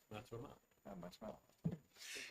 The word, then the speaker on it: Matrumalo: It's the next to the last syllable. How do I do? He's going to tell me. Matrumalo.